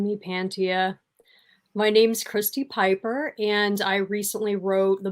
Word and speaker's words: Piper: And then Christy Pepper. Am I correct? Am I pronouncing you right? Am I pronouncing you right? It's Piper. Piper, sorry. Piper. Christy Piper.